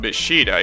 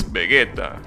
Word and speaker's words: Vegeta: The problem is that by doing that, you're basically changing the pronunciation completely. So it's not Beshida, it's Vegeta, which is completely stupid, because there is no